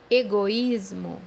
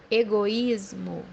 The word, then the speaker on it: egoísmo: وزي ما انت شايف ان حرف الإي هنا بينطق حرف كامل إيجويزمو أكنها مد ياء. egoísmo, egoísmo, بمعنى أنانية.